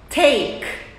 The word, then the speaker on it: take: então vou falar Take a pronúncia da letra T é com a língua na ponta aqui atrás dos dentes da frente e soprando um pouco então é repete aí